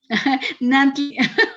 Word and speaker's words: Nantli: Nantli, como me dicen, no Nagni, puedo pronunciarlo.